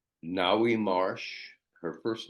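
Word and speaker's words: Ngaio: the Four Queens and that included chrisy s Nai Marsh her first name is spelled hen G A IO um and Marjorie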